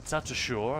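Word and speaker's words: Tatasciore: Tatashore, I think it's pronounced.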